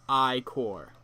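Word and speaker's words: Ichor: with magical I core that's pronounced I core choose your I core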